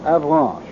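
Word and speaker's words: Avranches: The base of this peninsula is 75 mi across between K and Avanch. I'll spell that again for those of you who have taken out your maps.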